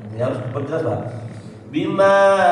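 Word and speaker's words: بماءٍ: Bima'in a huruf halqi ya, tenggorokan ya. Jangan mengikuti atau menyerupai huruf mad yang dipanjangkan.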